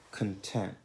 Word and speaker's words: content: Ad esempio, content. La T di tent, tent, sillaba accentata, si pronuncia come la T di Ted.